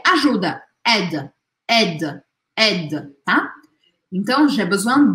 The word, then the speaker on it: aide: Não é para pronunciar este I, porque este I, ele faz uma matemática das letras, o A e o I juntos viram E. E aí eu falo aide, aide, não aide, tá?